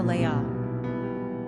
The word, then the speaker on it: Leia: pronunciation Lia or Leia simple meaning relaxed characteristics